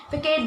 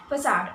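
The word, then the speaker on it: façade: High, मुझे पता है काफ़ी लोग होंगे जो इस वर्ड को फसाड ना बोल करके फिकेट बोलेंगे, बट the correct pronunciation is फसाड, okay.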